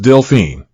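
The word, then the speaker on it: Delphine: to dolphin in English and is pronounced deline the rare moniker has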